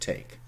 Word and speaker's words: take: And what we have today, you see, they were pronounced once, so Take, we spell Take, but we say take. This means there is a silent E in the end.